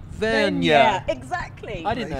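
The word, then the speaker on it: Vergne: I learned the other day it's actually pronounced Vernia.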